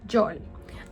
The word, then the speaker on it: Yol: Let's talk about why York becomes Yol. In Spanish, words don't usually end with a K sound, so it's easier to drop the K for an easier pronunciation.